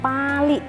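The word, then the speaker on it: Pāli: itu sendiri, di mana dalam tanda bacanya Pali, jadi A-nya itu panjang, ada garis di atasnya, itu artinya adalah memang teks suci.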